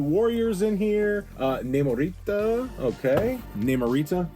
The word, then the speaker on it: Namorita: Namorita, in case we don't want to put the rolling R version in there.